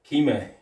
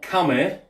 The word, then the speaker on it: kime: the technique, which adds kime to the technique. Not kame, not kamai, kime. K-I-M-A-E, I believe it's spelled, kime.